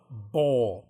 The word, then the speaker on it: Bol: Club Bowl, but it's spelled like BOL.